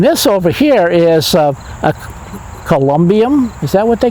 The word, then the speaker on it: columbarium: No, I think that's how you Say it again? Columbine? Okay. It's where it's Columbarium. Columbarium, you got it, yes. Okay. A winner, we have a winner. Then, okay, give me the spelling. And Yeah, there's more syllables than you originally had, but you got it now.